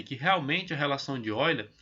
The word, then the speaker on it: Euler: Você está vendo aí Euler, mas se pronuncia Euler, ela é dada por faces mais vértices igual a aresta mais 2.